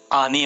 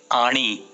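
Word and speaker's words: आणि: मराठी की बात कहूंगा तो पीएचडी लोग मैंने देखे हैं जो कि जिंदगी भर आनी और पानी ही कहते हैं। मराठी में आणी, आणी पानी, ऐसे उसके प्रोनाउंसिएशन है।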